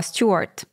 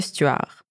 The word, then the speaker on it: Stuart: a grandi en écosse a conservé la prononciation anglaise de son nom soit stuart plutôt que ce tueur voilà donc c'est son